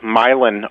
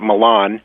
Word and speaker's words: Milan: fact we're right near a little town called milin Ohio the OU of Towners pronounce at Milan yes but uh it was known for Thomas